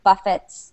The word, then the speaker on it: buffet: So buffet or buffet, but however you say it, British or American, you do not say the T. So the last part of the word is like a fay.